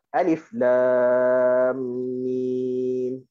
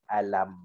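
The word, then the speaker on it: الم: maka kita tahu cara bacanya adalah dengan alif lam mim. Okey. Dan kalau selepas daripada alif lam mim ni tak ada nombor ayat, maka kita pun baca alam.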